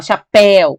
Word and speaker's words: chapéu: Ou por acaso você fala chapéu. Você fala chapéu para fora, não chapéu.